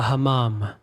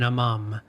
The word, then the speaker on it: hammam: I was finally going to go to a hammam or an hammam. I've heard it pronounced both ways, aka a Turkish bath, an authentic Turkish bath experience, an ancient building.